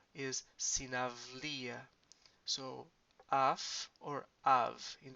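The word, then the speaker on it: συναυλία: Remember here, if you have this vowel, this diphthong combination before um, a voiced consonant, so L is a voiced consonant, is gonna sound like avi. So sinavlia.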